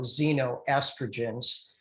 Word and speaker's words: xenoestrogens: what we call xenoestrogens that's spelled with an ex excieno xenoestrogens and estrogens increase something